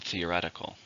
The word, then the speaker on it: theoretical: and that's an adjective how many syllables are in the word theoretical five stress in a second theoretical these ideas are all